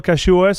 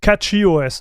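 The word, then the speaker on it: CachyOS: YouTube to to install Cashios? I would love to look at it right now. And and I'm not trolling, dude. Okay, so release announcements. Let's see what's new. It's pronounced catchy OS.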